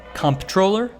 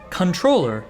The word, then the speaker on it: comptroller: that you will hear comptroller comptroller and controller following strict traditional pronunciation rules controller is the quote-unquote correct way to say the word the discrepancy between how